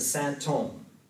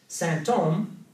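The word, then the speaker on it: sinthome: Santome, in French, it's actually, the spelling is weird, but it's just the sort of medieval French spelling of symptom. It sounds just like symptom, so in French they're pronounced the same, but it also sounds like holy man, Saint-Homme.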